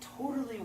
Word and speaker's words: totally: It totally worked. Totally worked. And that's how, my students, that's how I want you to pronounce totally. Totally worked. It's amazing. Hear the stress?